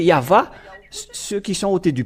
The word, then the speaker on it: Yahvah: la translitération c'est là ils utilisent le W comme les Anglais mais si ce sont les Français ils vont lesppeler V et c'est pourquoi la question se pose C WV ou V c'est à suite à la transitération des chercheurs et des savants bon donc ils ont utilisé le DoubleV mais si on regarde depuis l'original hébreu donc c'est V le vraépellation et ceux qui ont prononcé yava ceux qui sont ôés